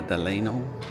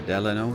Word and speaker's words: Delano: This is the property formerly known as the Delano or Delano, depending on how you want to pronounce it.